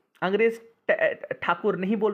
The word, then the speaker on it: ठाकुर: जो इनका रविंद्रनाथ टैगोर इनका नाम था रविंद्रनाथ ठाकुर अंग्रेजों ने टैगोर कर दिया कक उच्चारण प्रॉब्लम होता है अंग्रेज ठाकुर नहीं बोल पा रहा